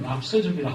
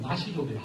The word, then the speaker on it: 나시족: 그런 것 가운데 저 중국 운남 지방에 가면 한자로는 납서족이라 하고 발음은 나시족이라 하고 그 사람들이 동파문자라고 하는 아직도 상향문자를 쓰면서 동파경이라고 하는 방대한 그런 기록을 남겼는데 그러니 문학이고 동시에 철학입니다.